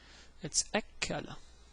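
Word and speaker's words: أكّل: And this word, because of the shaddah, is pronounced as if it is written like so. Okay, so notice what happened here. What happened is the following. The letter kaf here, it has shaddah on it, and the shaddah has fatha on it. It's pronounced as if it is two kaf.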